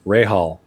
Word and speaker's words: Rahal: Speaking of pronunciation, someone was saying that the racing driver in your story, a couple people in chat were saying that it's pronounced Rahal.